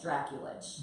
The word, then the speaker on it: Drakulich: Drakulich. Drakulich. Like Dracula has an itch. Drakulich.